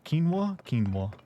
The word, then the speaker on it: quinoa: Pronounce quinoa? Quinoa.